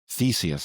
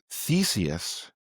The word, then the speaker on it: Theseus: Theseus, and even his name almost sounds like the word thesis.